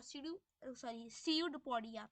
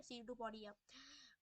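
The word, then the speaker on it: pseudopodia: ठीक है आगे है, इट पुशेस आउट वन और मोर finger like projections called सीयूपोडिया, सीयूडपोडिया, P silent है, ठीक है, सीयूडपोडिया, और false feed for movement and capture of food.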